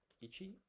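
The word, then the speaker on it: 一: One is ichi.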